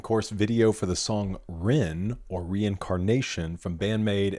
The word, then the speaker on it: Rinne: I probably would have said rin. It's ren.